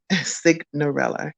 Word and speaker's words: Cignarella: fellow youtuber john cigar cignarella sig narella you gotta say it right um also known as